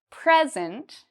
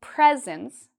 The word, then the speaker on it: present: If I put stress, or if I say louder and longer the first part, present, I have many presents, then this means like a gift, okay? Versus present, that's an action, that's a verb.